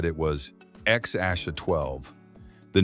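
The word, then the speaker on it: X Æ A-12: People struggled to pronounce it until Musk said it was X Aasha 12.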